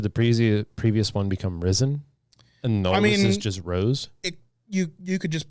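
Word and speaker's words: Ryzen: previous previous one become risen you you could just pronounce it that way if you wanted to because it's r y z e n you know it's not rising it's risen because it's last year's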